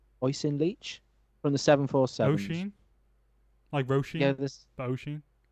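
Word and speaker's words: Oisin: first name Aussie oh it's not like oshan it's awesome o-i-s-i-n oisen Leach from the 747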